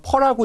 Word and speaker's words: PER: 그러면 기업에 대한 ROE라고 표현하고 있는데 자기자본 수익률이라든가 또는 사내 유보율 그리고 주가 수익 배수라고 해서 흔히 우리가 퍼라고 읽고 있습니다. PER, 퍼에 영향을 주게 된다.